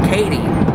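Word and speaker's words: Cady: And her last name was Katie. However, it was spelled C-A-D-Y. So it's spelled like Cody, but with an A.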